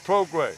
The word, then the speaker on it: Prograis: Prograis, you pronounce it Prograis. Prograis, yep. Yeah, that gray is G-R-A-I-S. Yeah, the French. That's a French one, there you go.